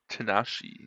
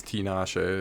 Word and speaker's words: Tinashe: B2B featuring Tanashi. Yeah, it's Tinashe if you want to redo that.